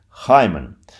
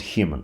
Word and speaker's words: hymen: hyman right name high pronunciation should be hymen not human human in latin hymen